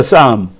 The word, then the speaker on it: psalm: 이라고 했는데 그 이게 시편이 영어로 싸움이라고 있습니다 쌈 psalm 이라고 썼는데 1 그때는 싸움이라고 읽어요 피자 발음을 아니라 저 사람의 팜 에